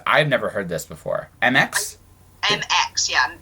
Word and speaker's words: Mx: MX? MX, yeah. It's pronounced mix.